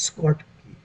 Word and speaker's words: Schottky: This is Scott key. The pronunciation is related to short, short.